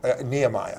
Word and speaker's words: Nehemiah: So Nehemiah and Permelia Atwood. Nehemiah. Nehemiah, thank you. You're welcome. Okay. You got to correct my pronunciation.